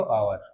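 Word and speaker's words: hour: आवर, फॉर एन आवर, first letter क्या है, H है, व्यंजन है, कॉन्सोनेंट है, लेकिन हम जब इसका ट्रांसलेशन करते हैं, ठीक है, उच्चारण करते हैं, तो फर्स्ट लेटर में किसकी आवाज आ रही है, आवर, आ की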